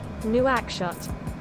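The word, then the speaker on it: Nouakchott: pronounce it nope Chuck okay and it is pronounced new ax shot new ax shot new ax shot right she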